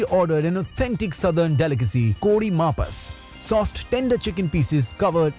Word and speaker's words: Kodi Mapas: This is Kodi Mapas, right pronunciation.